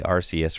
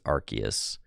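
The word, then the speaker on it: Arceus: fine giggling bubbles says the way people pronounce archus wrong arus I know I I used to say rcus for a long time but apparently it is archus doing some work for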